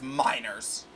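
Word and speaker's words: Meinerz: maneras Miners is it there's no way it's miners you you're not pronouncing it right it's miners no they what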